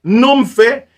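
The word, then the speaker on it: νύμφη: Nom fait qui c'est N-U-M-P-H-E. C'est comme ça que le prononce, c'est nom fait.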